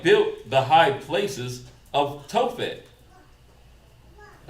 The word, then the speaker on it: Tophet: And they have built the high places of Tophet.